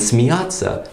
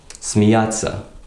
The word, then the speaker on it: смеяться: soft sign, s ya, смеяться. And we don't say смеяться, we say смеяться. So we just put the t in there.